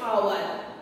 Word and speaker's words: hour: How many minutes are there in day's hour? Okay, as you know that H is silent here and pronunciation is like that.